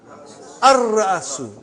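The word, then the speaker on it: الرأس: How will you pronounce? Ar-Ra'asu. Not Al. Ar-Ra'asu.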